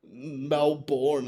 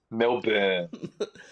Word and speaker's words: Melbourne: Oh, the amount of people that say cran or malbourne and I'm like no it's not born it's burn. Yes Melbourne.